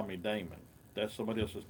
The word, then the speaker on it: Daymond: didn't even call me Damon that's somebody else's name yes I know all about you Raymond well he really didn't know about me because he didn't even pronounce my name right and and and that's